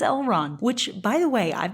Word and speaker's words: Elrond: was like wait it's elrond and you're right I just feel like they haven't been saying the D I've never seen these